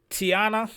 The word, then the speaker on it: Tianna: Tiana, that's the name of the artist we are reacting to.